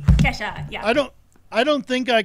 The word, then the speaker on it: Kesha: Am I pronouncing that right? Kesha, yeah.